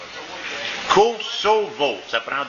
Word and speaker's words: Kosovo: Le S en 2 voyelles, en français, c'est Kosovo. C'est ça. C'est pas Kosovo, mais Kosovo.